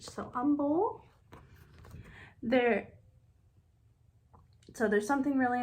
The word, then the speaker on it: Humble: eight is humble so you don't really pronounce it h so humble there so there's something